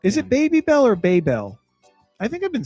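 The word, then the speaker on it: Babybel: Baby Bell.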